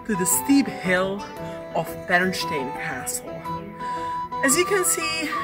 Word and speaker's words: Pernštejn: footage for you the word bernstein is actually quite a tongue twister even for checks how would bernstein sound yeah that's correct that's the original pronunciation and it means what